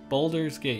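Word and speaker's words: Baldur's Gate: So what do you guys think about Boulder's Gate? Boulder's Gate, yes, I did say it right.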